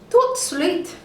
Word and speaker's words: tout de suite: You say it like this, tout de suite.